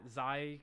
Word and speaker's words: XAI: Am I pronouncing that right? Xi, Xi. Right. Yeah, that's correct.